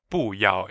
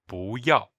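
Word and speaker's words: 不要: But in this case with the tone change rule, it's actually pronounced second tone, fourth tone. Right. So it's not buao, it's actually bu yao.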